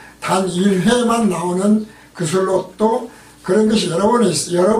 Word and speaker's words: 그술롯: 그술롯으로 음역을 한 것은 히브리어 발음으로 하면 게술로트다. 게술로트로 뜻은 비옥한 땅, 후한 선물, 경사, 언덕입니다. 그리고 히브리어 게술로트를 헬라어에서 카살롯으로 번역을 했고 카살롯의 어원은 신뢰라는 뜻이죠. 그러니까 그술롯은 어원이 신뢰에서 시작을 해서